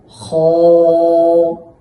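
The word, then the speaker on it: خ: চাপ দিয়ে হা এভাবে উচ্চারণ করতে হবে তারপর খ এই খ হরফটি উচ্চারণের সময় একটি বিষয় লক্ষণীয় সেটি হলো যে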